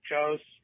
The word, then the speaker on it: Jos: you were like asking, how do you pronounce that middle name thing that I have, the J-O-S? Is it Joss? Is it Jose? And the truth is, you can pronounce it however you want because it's short for Joseph.